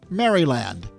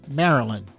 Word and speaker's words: Maryland: either Balmer or Baltimore and Maryland is not pronounced Maryland there's no y there's no D it's Maryland Balmer Maryland from 1941 until 1966 the NHL